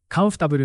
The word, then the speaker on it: comfortable: It's comfortable, not comfortable. Try blending the syllables.